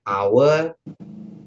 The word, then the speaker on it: hour: kata benda yang lain misalnya hour jam ya itu kannya pakai h tapi kan h-nya enggak dibaca. Nah itu nanti pakainya gitu karena H-nya itu huruf diam ya namanya silent letter gitu as.